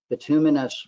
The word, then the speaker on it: bituminous: because Bin's a noun or you would say bituminous Roofing because binus is then the adjective for